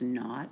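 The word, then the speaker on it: naught: of formation is different the little degree sign is pronounced not it just means standard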